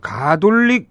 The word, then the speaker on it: 가톨릭: 현재 가톨릭이더라고요. 정식 발음이. 가로 시작합니다. 왜냐면은 가나다 순으로 대학명을 정하기 때문에. 그러니까 카로 하면 뒤로 빠져서. 카로 하면 제일 마지막이고 그래서 가톨릭. 그런 깊은 뜻이 나는 처음 알았어 오늘.